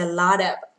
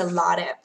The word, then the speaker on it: a lot of: Âm T kẹp giữa hai nguyên âm đọc luôn là đờ luôn, gọi là flap T trong tiếng Anh.